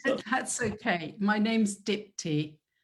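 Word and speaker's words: Dipti: really sorry that i don't know how to pronounce it that's okay my name's dipty dipty okay my apologies dipty um what is systemic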